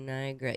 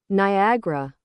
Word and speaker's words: Niagara: Niagara. Niagara. Niagara. So why are you not saying the A between the G and the R?